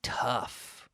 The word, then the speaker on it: tough: But we pronounce this like tough, T-U-F-F, tough.